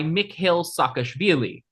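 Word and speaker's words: Mikheil Saakashvili: There was a contested parliamentary election and Charvadza resigned in order to be replaced by Mick Hill Sakashili. Hey, you pronounced that correctly.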